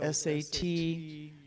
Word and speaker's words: Sat Nam: Or the yogic meditation piece of it is the Sanskrit sound Sat Nam, spelled S-A-T-N-A-M, but pronounced Sat Nam.